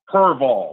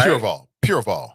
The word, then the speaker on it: Pureval: Now, you remember that name that I brought up last time that I mispronounced? Avtab Purval, right? Pureval.